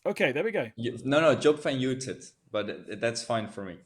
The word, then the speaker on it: Job van Uitert: no, Job van Uitert, but that's fine for me if you pronounce it like that.